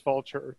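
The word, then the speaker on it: Vultr: me you're really not you're pronouncing it right I saw a video about them and it is vulture there it's just the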